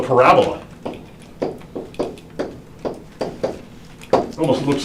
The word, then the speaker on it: parabola: it starts with p yeah it's called the parabola it almost looks like you can pronounce it parabola but it's parabola and what is a parabola well a parabola